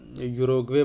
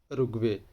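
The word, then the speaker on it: Uruguay: So mostly लोग इसको गलत प्रोनाउंस करते हैं, मोस्टली लोग इसको यूरोग्वे पढ़ते हैं, बट यूरोग्वे is wrong pronunciation, exact pronunciation is रुग्वे।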